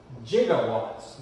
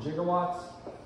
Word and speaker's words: gigawatts: Now, Doc Brown in the movie pronounces it gigawatts, which is more of the French pronunciation. We use the harder G, the J, like we do with the word giraffe.